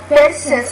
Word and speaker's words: person: Phones on persons or work-related reasons, and therefore they are. When you use that word person, the P, you want to pronounce that P with more air.